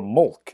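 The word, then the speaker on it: Molk: particular artifact bore the letters MLK or Mulk as it's normally pronounced their suspicions aroused and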